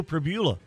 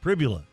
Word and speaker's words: Pribula: Meanwhile, back at the ranch, Bo Priva or Pribula, because it's spelled like fibula but with a PR, the Missouri quarterback.